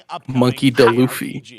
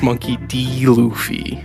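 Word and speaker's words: Monkey D. Luffy: was a pronounce that was a way to pronounce it monkey luffy it's monkey d luffy christ crash crash pirates you ain't getting no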